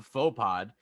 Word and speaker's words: Faux Pod: On Wednesdays, you can hear my podcast, the Faux Pod. If you're wondering how to spell that, aka if you're Zanka, it's THE space FAUX space POD. The Faux Pod. It's a play on the word faux pas.